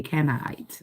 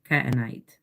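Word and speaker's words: Canaanite: able to birth a canite. Okay, it's K andite. Canonite. Okay, pronunciation and words are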